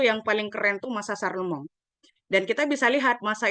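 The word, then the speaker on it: Charlemagne: dia adalah kaisar besar yaitu bacanya Saremong ya kalau enggak salah ya Saremong dalam bahasa Prancis ya Saremong itu dia berhasil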